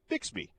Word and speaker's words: Bixby: But I I will refer to it as Bixby because that's how it's spelled. That's how it's most accurately pronounced.